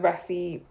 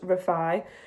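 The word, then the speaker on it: Refy: Like I've used the Reffy. Is that Reffy or Refi? Because I think it's Refi, but like for me,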